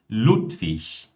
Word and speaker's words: Ludwig: IG no final de palavras, por mais que nós tenhamos o G ali no final, mas IG é pronunciado como ich. Então, nesse caso, nós temos Ludwig, ewig, fertig, richtig.